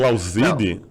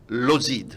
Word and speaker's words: Lauzid: E conheceu uma brasileira, largou a batina, casou e aí deu origem aos Lauzides. Mas a pronúncia é essa mesmo, Lauzide? Lauzide. Lauzide. A-U em francês tem um som de E.